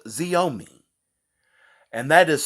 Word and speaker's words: Xiaomi: i have found is from a company called xiaomi and that is spelled x i a o m i g i wonder what nationality that is right